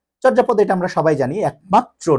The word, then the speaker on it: চর্যাপদ: তবে বাংলা সাহিত্যের একমাত্র এবং আদি নিদর্শন আমাদের কি, চর্যাপদ না, চর্যাপদ। হ্যাঁ, চর্যাপদ। ঠিক আছে, ওকে, এটির উচ্চারণ আমি করে দিচ্ছি, এই যে চোর যা পদ।